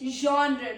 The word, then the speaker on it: genre: Then is genre, not genre. A category of art, film or music. A Frenchy ZH sound.